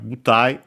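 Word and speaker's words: 舞台: And then we have butai, another Chinese compound, which means stage. Also accent on the first syllable.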